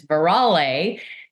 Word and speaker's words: Veralle: And to clarify, the pronunciation of my last name is Veralle, and I'm it's so sorry.